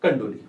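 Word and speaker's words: Candolle: तो टैक्सोनॉमी जो शब्द है ना, term taxonomy is given by scientist कंडोली। अब उसको कंडोले या कंडोली ये प्रोनाउंसिएशन का है, आप कुछ भी याद कर सकते हो, है ना।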